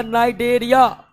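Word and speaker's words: Cnidaria: है वो हो गया नाइडेरिया। नाइडेरिया का सी साइलेंट रहता है।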